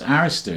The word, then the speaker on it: Arista: And that was Clive Davis, and you pronounced Arista correctly, which is good.